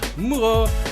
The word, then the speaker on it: Moureaux: creator of Galaxies.dev, and today's guest is Alex Moureaux, who has a lot of letters in his French name, but you only need to pronounce the O.